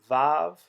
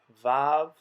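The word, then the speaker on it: ו: corresponds to that one we are going to pronounce it with a v sound which is how modern speakers of hebrew pronounce it that means that technically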